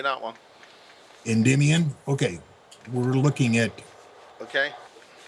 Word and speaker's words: Endymion: Endymion.